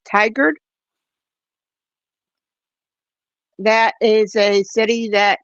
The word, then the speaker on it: Tigard: The correct pronunciation of the city you were trying to pronounce it earlier, Darcy, is Tigard.